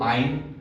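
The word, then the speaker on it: -yne: Prefix same रहेगा, suffix में थोड़ा चेंजेस होगा, आइन जुड़ेगा, YNE को आइन प्रोनाउंसिएट करेंगे, और इसका नेम जो बनेगा मेथाइन, लेकिन मेथाइन जो कि कटा हुआ है इसलिए इसको छोड़ देंगे।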